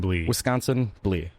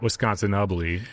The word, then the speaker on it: Wisconsinbly: So yeah, but it is pronounced drink Wisconsin. Wisconsin Blee. Just not Wisconsinly.